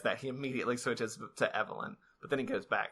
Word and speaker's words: Evelyn: okay I don't okay every time that Chris said evylyn yes instead of Evelyn because he didn't insist